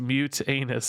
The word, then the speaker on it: Mutanus: Mutanus is pronounced mute anus. Okay, that's how we're gonna say it. Mutt anus.